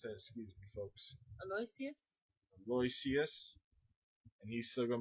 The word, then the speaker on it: Aloysius: How do you pronounce that? Excuse me, folks. Aloysius.